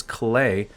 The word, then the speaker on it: Klee: character everyone's saying that i have to pronounce it correctly and that is clay if i'm wrong let